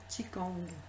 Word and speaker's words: Qigong: Alors, ça s'écrit avec la lettre Q, évidemment, et on prononce Qigong.